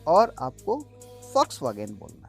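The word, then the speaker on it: Volkswagen: वो V नहीं है, वो V = F because it इज a German word. In German V is pronounced as F। ठीक है। तो ये तो फॉक्स, क्या हो गया? फॉक्स। और ये वैगन नहीं है, ये है वागेन। तो सही प्रोनाउंसिएशन गाइस क्या है? फॉक्स वागेन।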